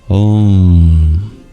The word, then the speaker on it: Om: We begin with Om, which comprises 3 letters, A, U, and pronounced as a single sound, Om. A is pronounced with an open mouth, U with a half-closed mouth, and with a fully closed mouth.